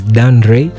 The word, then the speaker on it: Dan Rei: So my name is Dan Ray. Those are two different names. Dan Ray. Spell it out. Spell it out. Dan is just simple Dan and Ray is just R E I.